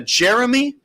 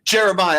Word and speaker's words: Jeremiah: tell is that a jeremy jeremy are you there hey i'm here my name is it's it's pronounced here am i how are y'all doing today jeremiah i apologize to you